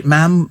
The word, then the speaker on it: ma'am: You know, sorry, ma'am, rhymes with jam.